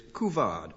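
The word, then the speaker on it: couvade: And now, and Scott James, your word is kuvad. C O U V A D E. And in spite of my pronunciation, perhaps recognize it's French in origin.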